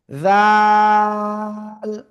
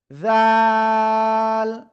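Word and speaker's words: ذال: ওকে, এরপরে আমরা যে অক্ষরটা শিখেছি এই অক্ষরটা, জিহ্বার আগা সামনের উপরে দুই দাঁতের আগায় লাগিয়ে তিন আলিফটা নিয়ে উচ্চারণ করব, জাল। প্লিজ সবাই একসাথে জোরে জোরে বলেন, সবাই জোরে জোরে বলেন। জাল।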